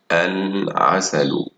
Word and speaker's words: العسل: عسل، عسل، ندخل عليها الألف واللام تصير العسل، العسل. نطقنا اللام واللام فوقها سكون، إذن فهي لام قمرية.